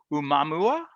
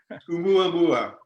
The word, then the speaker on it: Oumuamua: Umamua. 2018? Close. It's pronounced just as it's spelled. Ah. Oumuamua.